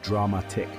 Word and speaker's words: dramatic: The pronunciation is dramatic, with the stress on the second syllable.